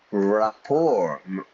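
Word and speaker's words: rapport: We'll work better together if we have more raor more friendship. I suppose you know that we have a connection. Notice the pronunciation everybody. It's French ra. We don't pronounce the t.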